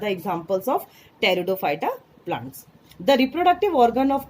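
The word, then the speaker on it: Pteridophyta: Pronunciation आप देखेंगे पी से नहीं है, टी से है. टेरिडोफाइटा.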